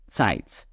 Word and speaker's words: Zeit: Then we have Z in English, and it's gonna be pronounced as Z, Zeit, Zeit, Zeit.